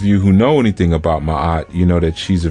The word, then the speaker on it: Maat: be dealing with the cosmic archetype known as Maat Maat which is spelled m a a t ma sometimes you